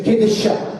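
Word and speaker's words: קדשה: Questa stessa radice, con l'aggiunta della terminazione per il femminile e con la vocalizzazione una E, un'altra E e una A, si legge Kedeshah, che significa prostituta.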